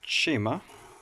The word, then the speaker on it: Chima: It is pronounced chima.